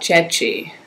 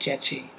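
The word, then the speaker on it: Gyekye: okay let's talk about ji spelled g ye e ke but pronounced ji the Aon philosopher who provides an argument for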